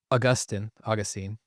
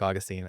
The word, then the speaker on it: Augustine: Um, Augustine, either pronunciation I think is fine. I like Augustine.